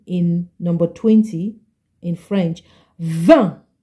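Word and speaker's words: vingt: number 20 in French v v v remember the t is not pronounced okay V let's read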